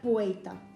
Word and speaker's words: puerta: por ejemplo podemos escuchar la vocalización de r en palabras como puerta que se pronunciaría puita eh en Cuba encontramos